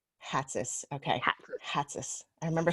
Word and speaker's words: Hatzis: I want to introduce, and I want to make sure I pronounce your last name correct. Hatzis. Hatzis.